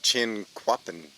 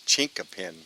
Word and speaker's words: Chinquapin: Creek State Park the Ozark chin clapping no it's Chinquapin trailhead I always call it a ching clapping before we just stopped